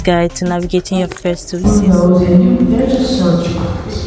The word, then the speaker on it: WiCyS: So yeah, this is pronounced WiCyS for those who call it WiCyS. It is WiCyS actually.